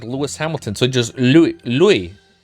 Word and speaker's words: Louis: Lewis is like you say, without the S. Oh, wait. Like Lewis, like Lewis Hamilton. So just Louie pronounced like Euore the door.